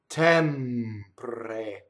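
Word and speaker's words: tempre: Notice the M doubles the same way that L and N doubles. Tɛmpre. So the M's are made with your lips coming together. While your lips are together, you hold that while you phonate.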